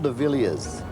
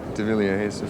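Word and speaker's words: De Villiers: latest album extremely important it's diler deiler so we have a race out here called the Vilas and it's spelled the same way I'm sorry that's my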